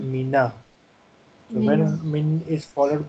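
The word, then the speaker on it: مِنَ: So instead of writing the skun, we convert it into fatha, and it becomes mina.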